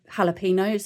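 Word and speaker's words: jalapeños: And yeah, so we learned that the J is actually pronounced like a H, which makes sense when you think of jalapenos.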